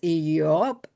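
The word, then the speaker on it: איוב: La palabra Job en hebreo es yob se compone de una alef, una yut, una va y una bet.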